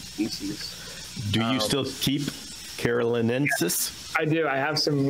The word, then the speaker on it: carolinensis: Was that first one that you had, was it the Carolinus? Am I saying that right? Carolinensis.